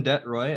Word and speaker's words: de Troy: presenter and right now i have uh detroit as our first presenter for today so